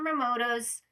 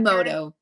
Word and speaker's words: Emoto: Dr. Momoto's, I don't think I'm saying it right. Dr. Emoto.